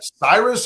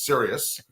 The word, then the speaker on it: Sirius: Cyrus? How do you pronounce it? I'm like, no, it's Sirius.